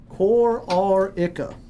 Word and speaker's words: Kororica: So the A is silent. Kororica.